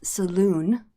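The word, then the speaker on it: Soluun: damn it i want to make sure i pronounce his name correctly yes saloon s-o-l-u-u-n the um jerk drow who does not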